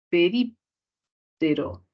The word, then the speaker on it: períptero: Entonces solamente separaríamos acá, pero, y tendríamos acá ese rip, que vendría a ser justamente la sílaba con mayor fuerza de voz, y se clasificaría como una palabra grave, ¿no? Voy a escribir para que no se confunda. Ya. Una palabra, perdón, una palabra esdrújula, ¿no?